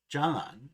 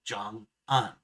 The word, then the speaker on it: jangan: To my ear, jangan sounded like jang-an instead of the actual jangan.